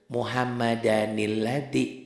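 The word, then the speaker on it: مُحَمَّدًا الَّذِي: Jadi Muhammad dan alladzi tanwin ini baca jadi satu. Tuh ya. Dibaca satu, dibantu nun kecil. Muhammadanilladzi.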